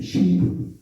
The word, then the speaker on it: 신불: 신불. 지금 근데 모든 사람들이 이것을 신시라고 읽어요. 신시라고.